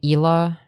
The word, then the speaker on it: Hila: You mean Hila? You don't even know who you're defending? Okay. Kid. Ethan basically posted on IG saying that his kid never had. Dude, he thinks that Hila Klein is pronounced Hilla Klein.